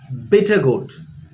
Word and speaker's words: bitter gourd: But in English, it's called bitter gourd. Again, the stress is on the first part of the word.